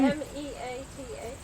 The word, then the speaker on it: Meath: M-E-A-T-H. Meath? Where's our Irish pronouncer here?